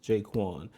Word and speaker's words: J'Qwan: Be sure to subscribe to this channel, pronounced jay-kwon.